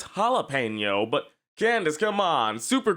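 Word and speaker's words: jalapeño: Did you Does she pronounce it as jalapeno? It's jalapeno.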